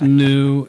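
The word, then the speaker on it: NIU: It's spelled N-I-U. It's pronounced new.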